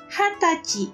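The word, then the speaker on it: 二十歳: adalah usia 20 tahun sehingga pengucapannya full berbeda dari yang lain menjadi hatachi Hai usia 20 tahun menjadi hatachi di usia 20 tahun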